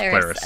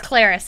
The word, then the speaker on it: Clarice: It's pronounced Clarice. It's Clarice.